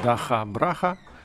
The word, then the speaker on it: DakhaBrakha: Tout d'abord, comment prononce-t-on correctement le nom du groupe ? Мы в Украине кажемо Даха Браха.